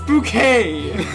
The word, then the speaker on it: Bucket: pretentious british woman and her last name is bucket but you know but she's like her thing is it's bouquet i don't know his